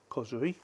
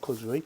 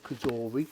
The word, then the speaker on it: COSORI: We have an accessory pack, COSORI, not COSORI, COSORI. I think that's how you pronounce it.